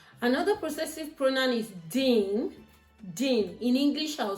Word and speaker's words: din: Dean. In English I'll spell it d i n.